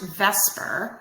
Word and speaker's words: VSEPR: complex molecular structures so although it's pronounced Vesper it's not really written like that and it's an acronym